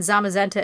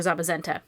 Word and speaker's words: Zamazenta: So cyan for Zacian and magenta for Zamazenta.